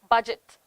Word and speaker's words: budget: in the english spelling because we try to pronounce every single letter for example words like uh words like uh honor words like honest words like budget debt receipt buffet and